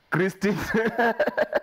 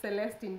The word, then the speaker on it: Celestine: Good to see you, Christine. Lovely to see you. It's Celestine, but okay.